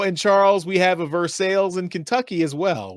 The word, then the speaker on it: Versailles: We also pronounce it Versailles. It's the English pronunciation. Versailles is the French pronunciation. Think of it like the name Jesus, spelled the exact same way the Spanish pronunciation is Jesus. Different language, different pronunciation rules. Versailles is correct in English.